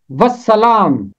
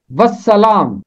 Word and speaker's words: والسلام: کی 29ویں آیت میں آتا ہے والسلام، والسلام، اور یہی اس کا درست تلفظ ہے۔ اس کا مطلب ہے